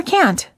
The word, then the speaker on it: can't: you say can or can't the silent T is one of the reasons why you may have a hard time hearing the difference between the words can and can't instead of saying I